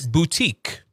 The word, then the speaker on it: boutique: Now, if we wanted to spell it in the correct way, it would look something like boot as in the shoe, and then you'd have a teak.